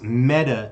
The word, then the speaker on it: Meta: uh to be precise metta is pronounced like the feminine form of a hebrew word which is dead it means dead so okay i don't